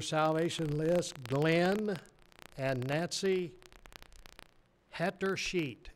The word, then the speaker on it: Hettersheet: Add to your salvation list Glenn and Nancy Hetter Sheet. It's spelt just like it sounds. HETTERSHEET. Hetter Sheet.